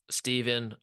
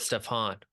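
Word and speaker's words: Stephan: First name is pronounced like Steven or Steven, not Stefan.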